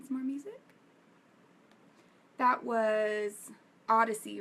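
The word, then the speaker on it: Oddisee: me put on some more music that was Odyssey right um by the way the music that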